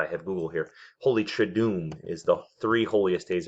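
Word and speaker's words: Triduum: and so I said it wrong it's holy try do meeee thank God I have Google here holy traduz is the three holiest days of the year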